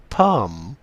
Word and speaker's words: palm: silent زي dumb ولام LM والL بتكون silent زي come palm MN N is silent بتكون ال N silent autumn.